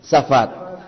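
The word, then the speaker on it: ספד: Pronuncien, safat.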